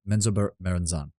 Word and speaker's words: Menzoberranzan: Am I pronouncing Menzoberranzan? Yeah, Menzoberranzan.